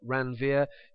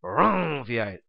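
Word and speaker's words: Ranvier: nodes of ronier now you can decide how to pronounce this word here you might call it Rania you might call it Ron I like to say it a little bit like a motorcycle revving its engine Rong something along those lines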